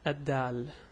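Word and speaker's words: د: So this letter is called Harf Daal. The pronunciation for that would be Da. It's like a D in English, it's a Da.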